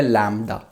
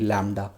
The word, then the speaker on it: lambda: ये सिंबल है लैम्डा, अगर आपको स्पेलिंग बताऊं LAMBDA, लैम्डा।